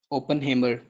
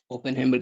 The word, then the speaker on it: Oppenheimer: Main scientist का नाम आप याद रखेंगे, जे रॉबर्ट ओपनहेमर। ओपनहेमर की स्पेलिंग लिख लें आप, OPPENHEIMER, ओपनहेमर, ठीक है जी।